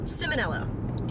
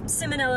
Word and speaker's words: Ciminelli: your last name okay so ciminelli okay it's so soft yeah I mean and that's actually not the Italian pronunciation to would be Italian but she'd better though